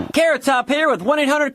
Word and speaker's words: Carrot Top: Carrot top here with 1800 call for collect calls. It's as beautifully simple as figure skating. The next skaters are Ctop and Pay.